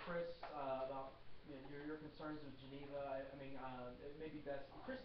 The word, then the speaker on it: Geneva: Geneva is the second syllable, right?